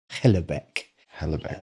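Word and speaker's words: Houellebecq: a French he's a French writer it's it's pronounced helc helc he's a genius very controversial and uh quite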